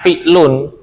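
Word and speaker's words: فعل: Fi'il itu di bahasa Indonesiakan. Aslinya fi'lun. Bukan fi'il.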